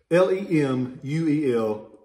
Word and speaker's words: Lemuel: will be marked l pomeroy because he was lemuel lemuel we don't have that name down here very much so i try to say it right but like raphael most people mispronounce it l-e-m-u-e-l lemuel uh pomeroy and it'll have his marking